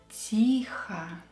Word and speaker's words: тихо: Let's pronounce it as A to sound like native. Тихо.